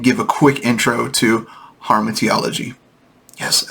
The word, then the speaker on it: Hamartiology: So I just want to break this down and give a quick intro to Hamartiology.